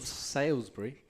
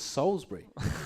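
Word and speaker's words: Salisbury: well Dan Collins from salesbury someone has corrected me I keep saying so wait no it's soulsbury I say salesbury I can't say it right anyway Dan Collins with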